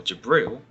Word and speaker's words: Jibril: salvation meanwhile in islam gabriel or jabril as it is pronounced in arabic has a much more